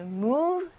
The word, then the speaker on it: move: 汽车刚刚发动起来肯定是比较缓慢的移动，就是 move slowly， move slowly。